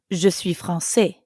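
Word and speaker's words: française: so as a woman I wouldn't actually say francaise right because false is masculine instead I'd says Francis notice the change in the pronunciation says but I'm a man so I'd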